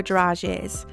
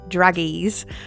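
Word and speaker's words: dragées: in some small silver garages I used to pronounce this how it was spelt druggies but it's a bit more sophisticated than that we also want to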